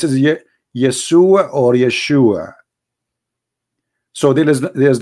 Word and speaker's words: Yeshua: oh and those it isn't because they cannot pronounce the correct word the correct word in the Hebrew is Yeshua as simple as that so it's because it's